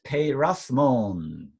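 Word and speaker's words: πειρασμόν: Eis peirasmon. Kai me is a negation. Me, do not. Okay. Me eisenenkēs. It's a little long, but don't worry. Eisenenkēs. Eisenenkēs. Right? Eisenenkēs hēmas. Eis peirasmon. Peirasmon, 3 syllables.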